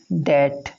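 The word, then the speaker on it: debt: Will you पे द डेट, देखिए this is डेट, यहाँ बी साइलेंट है, बी साइलेंट है।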